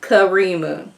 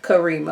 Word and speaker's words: Karima: Now, Karima Khadijah Zawaja Bazil, she said her name is pronounced Karima. Okay. Like Karima. Okay, now we got that now.